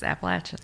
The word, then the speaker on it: Appalachian: yeah well I mean I said Appalachian and then I went there and it's appalachin okay I like no